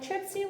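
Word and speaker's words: Tripcie: If you liked me enough, you want to be like, Tripsy was cool. That's spectacular. It's spelled Trip, C-I-E.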